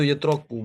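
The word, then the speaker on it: يُتْرَكُ: Itu yutraku bacanya ya, bukan yudrok juga.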